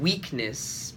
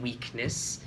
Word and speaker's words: weakness: once uhm Jung ji when you were pronouncing weakness be sure to get that hard e sound in there it's I thought you're saying witness at first so be sure to change the sound too hard a weakness and speaking about your